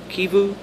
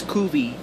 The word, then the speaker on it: Kivu: Sometimes I have a brain fart and mix it up as Kuvi, and I almost said Kuvi, like Van Kuvi. As in Vancouver, Canada. But that's not how it's pronounced, so I have been pronouncing it wrong.